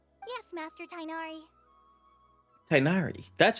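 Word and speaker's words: Tighnari: to do as I've said Yes master tinari tinari that's how we pronounce it uh wait hold on a second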